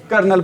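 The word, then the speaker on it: colonel: आ र मेरी बात ये किसकी स्पेलिंग है अभी किसकी स्पेलिंग है ये क्या बोलेंगे इसको कर्नल क्या बोलेंगे इसको भी कर्नल बोलेंगे चलो भाई कोई बात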